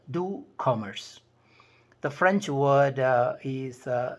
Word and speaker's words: doux: world better you may remember this concept called do Commerce the French word is spelled D o u x it means sweet